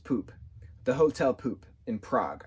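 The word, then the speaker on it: Pupp: go to the hotel p-u-p-p right she says it as pup but it's pronounced poop the hotel poop in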